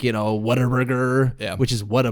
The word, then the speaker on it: Whataburger: food like people downstairs always like you know what a burger yeah which is what a burger but everybody there pronounces it whataburger for some reason are you